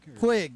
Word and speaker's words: Puig: Puig? Puig, yeah. Is that how you say it? Yeah, that's how you pronounce it.